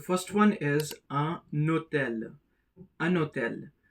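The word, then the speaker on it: un hôtel: The first one is a notel anotel. Because of the presence of the mute H the N gets connected with the O that is the leazison takes place.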